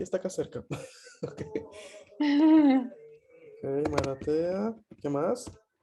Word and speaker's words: Maratea: Malatea se escribe así.